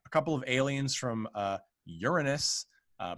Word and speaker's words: Uranus: of aliens from uh uranus uh but it's always pronounced uranus in this film are coming to earth